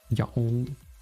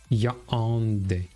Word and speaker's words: Yaoundé: In addition to the national tongues of English and French, the capital city is Yaoundé. Is there something like a pronunciation of Yaoundé? Yaoundé. It's actually almost how I'm saying it, right?